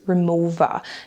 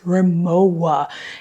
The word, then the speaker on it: Rimowa: and tell me it's Rimowa, and it is a German brand. I am in Germany, so in German, the language, the W is pronounced with a V, like, so you say Rimowa and not Rimowa.